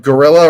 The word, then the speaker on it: guerrilla: United States doesn't like that and yet that gorilla right here that's how that's how you pronounce that word there so the the Vietcong